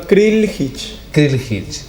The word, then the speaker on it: Krljih: Krikhic.